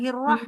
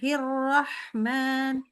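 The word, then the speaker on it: الرحمن: Nah, bukan hirroh bacanya tapi Bismillahirrah. Nah, itu agak ke A itu. Ya, benar Hirrahman.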